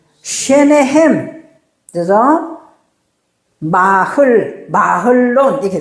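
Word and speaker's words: מחלון: 마흘론, 이렇게 돼. 마론이에요, 마흘론이 왜냐면은, 왜 마론이냐 하면은, 해의 밑에 이 쉐바가 지금 발음을 안 한다 했잖아요. 그러니까, 원래 읽으려면 마흘론, 이렇게 해야 돼요.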